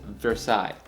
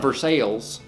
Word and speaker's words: Versailles: call it versailles and as a french miner that hurts my soul because i know that it's supposed to be called or pronounced says versailles it's not versailles but hey it's okay